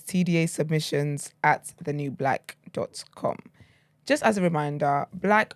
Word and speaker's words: BLXCK: Just as a reminder, black over on this side of town is spelled BLXCK. Never an A.